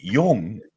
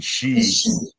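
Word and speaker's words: 四: death in Japanese and if you say Yong Yong is okay but the other pronunciation she yeah you you shouldn't use that so I guess being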